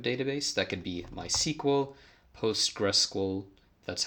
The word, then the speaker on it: PostgreSQL: That could be MySQL, PostgreSQL, that's how you say it, any database system.